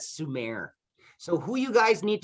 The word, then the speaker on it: Sumer: And then over here we have, it looks like summer, we pronounce that Sumer.